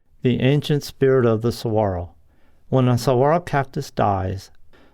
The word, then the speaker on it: saguaro: year with very few plants or animals Saguaro pronounced Saguaro a large tree like columellar cactus that develops